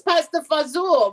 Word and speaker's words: pasta fagioli: Yeah, well, we have not had battle mozzarella or battle gabagool or battle pasta fagioli. No, it's pasta fazool. But in Jersey, they say pasta fazool, not pasta fagioli.